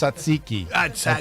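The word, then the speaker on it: tzatziki: So, I mean, I'm just I'm Greek, so I have to correct you. It's satziki. There you go.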